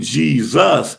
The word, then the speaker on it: Jesus: the z sound because in the name Jesus that Middle s is a z sound because again it's Zeus